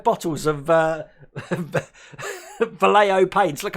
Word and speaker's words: Vallejo: got 5 bottles of Vallejo paints. Look, I said it right. I was about to call it Valjean paint again.